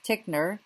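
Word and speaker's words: Titchener: the U.S we had one student named James tickner that's how you pronounce his name who became one of the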